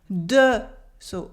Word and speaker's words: des: Here the S is silent in des because it makes an E sound.